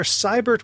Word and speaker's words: Seibert: Blair Seibert with a long I, and Doron Avizov, which rhymes with keep the cheese off.